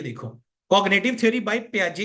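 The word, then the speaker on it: Piaget: देखो cognitive theory by प्याजे इसको प्याजे बोलते हैं बच्चे ठीक है पी आई जी ई टी प्याजे बोलते हैं स्पेलिंग्स देख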